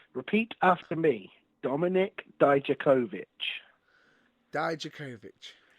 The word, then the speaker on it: Dijakovic: Dijakovic. Or he insists it's Dijakovic with a hard C at the end.